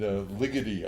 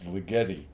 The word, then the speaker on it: Ligeti: There's this composer named Ligeti, I think is how you pronounce his name. Or if you want to pronounce it like an Italian, it's Ligeti. But I think he's Hungarian, so I think it's Ligeti.